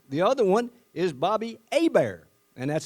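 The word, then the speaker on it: Hebert: The other one is Bobby Abear and that's spelled H E- R T, but I do know how to pronounce that. That's Bobby Abear.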